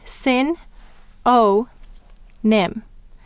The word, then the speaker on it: synonym: next word is synonym how many syllables in sin o NIM we have three and let's sound it out together the first syllable is sin a mmm the second syllable is O and the third syllable is NIM mmm-hmm and once again we have the O sign it's long sound at the end of the syllable you'll notice once again